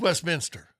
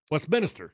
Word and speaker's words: Westminster: ones in town yeah it's Westminster Westminister well that's literally how it's spelled Louisville is spelled the